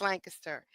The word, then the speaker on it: Lancaster: It's Lancaster.